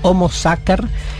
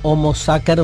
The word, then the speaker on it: Homo Sacer: Entonces, más 3-4 veces nombró Natalia el Homo Sacer, que se escribe Sacer con C, pero en latín vieron que la C se pronuncia siempre en términos duros. Homo Sacer es clave como figura,